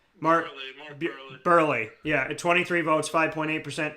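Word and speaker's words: Buehrle: votes 8.6 mark uh burely all right what is that mark i'm saying it wrong burly yeah 23 votes 5.8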